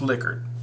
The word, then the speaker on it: Likert: then here's our liquor it is pronounced liquor so I'm going to